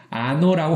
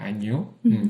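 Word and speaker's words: año: 이렇게 물결 표시가 있어요음 요거 물결 표시가 있는데 그래서 그 소리가 이게 우리나라 니은 약간 뭐 손녀 할 때처럼 이렇게 뉴이는 소리가 좀 나게끔 하거든요 그래서 아노라고 안 하고 요라 그래서 발음이 그렇게 됩니다 안요 근데 이거 를 이거를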